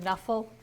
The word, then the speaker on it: Knuffle: look at the word nephal usually when KNN go together you don't hear the K but she does pronounce it like that she even got to